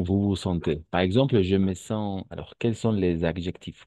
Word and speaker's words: sens: On va prononcer je me sens, pas je me sens.